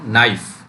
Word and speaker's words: knife: जैसे मैंने KNIFE, इसमें के साइलेंट है बच्चों। नाइफ क्या बोलते हैं, नाइफ मीन्स चाकू, तो इसमें